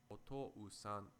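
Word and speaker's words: おとうさん: Similarly, if you pronounce the word for father, otou-san, quickly, otou-san, otou-san, otou-san, it sounds like one long vowel sound.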